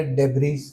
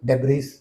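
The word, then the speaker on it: debris: एस भी पढ़ दिया डेब्रीज। पीछे लड़का बैठा था, उंगली खड़ी कर दी, सर you pronounce it wrong. Sure? Yes, the word is डेब्री, इट्स नॉट डेब्रीज।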